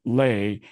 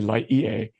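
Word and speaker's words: Lae: time Hawaii resident I I'm inclined to say la EA which is a town in Hawaii but it is in fact lay down here that the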